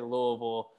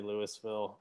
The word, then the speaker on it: Louisville: i just told you if you're from there you usually say louisville although i've got friends that live there that say louisville um but usually you